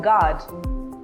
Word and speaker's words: guard: That letter U is silent when it comes after G and before a vowel in a word. For example, guide, guess, or guard.